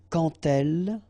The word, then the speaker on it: quand: So like that, quand elle, all right, same rule here. Remember, when you will have this D, you will phonetically pronounce it like T.